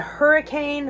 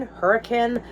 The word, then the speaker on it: Hurricane: So, we are headed to Hurricane Hurricane, heard it pronounced both ways, Utah, which is not super far from Zion National Park.